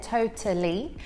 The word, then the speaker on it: totally: So here I'm pronouncing it with a true T, so you can hear that T there, totally.